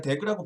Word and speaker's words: DAG: 그래서 이런 정의에 따라서 Directed Acyclic Graph라고 부르고, 일반적으로는 그거 약자인 DAG라고 부르고, 발음할 때는 그냥 DAG라고 부르는 경우가 더 많은 것 같아요.